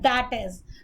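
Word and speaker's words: i.e.: इसी तरह आई period dot आई period ई period अगर आता है तो इसको हम प्रोनाउंस करते हैं दैट इज।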